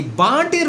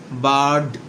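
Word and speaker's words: bird: এই বার্ডের উচ্চারণ হচ্ছে বার্ড, বার্ড। আরটা সাইলেন্ট থেকে যাবে।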